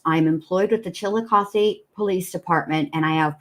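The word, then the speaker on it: Chillicothe: it correctly but I I feel like chilos it's either chilosi or chilos I think it's chilosi an officer with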